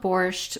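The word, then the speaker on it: borscht: Spelled borched, but pronounced borch.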